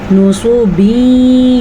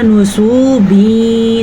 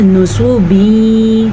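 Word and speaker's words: نُصُبٍ: نصوبین یوفزون نون کو لمبا نہیں کرنا. سواد کو اگر آپ نے پڑھا نصوبین تو آپ نے 2 غلطیاں کر دی, نون کو بھی لمبا کر دی اور سواد کو بھی.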